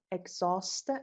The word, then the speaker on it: exhaust: Acid, biodiversity, contaminated, deforestation, ecosystem, emissions, environmental, erosion, exhaust. اچش خونده نمیشه.